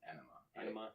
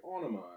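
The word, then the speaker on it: Ænima: around when Ana was released how do you pronounce it Ena anaa it's it's actually just enaa all right cool people get that confused all the time I know they're always like Ona I'm like you can call that if you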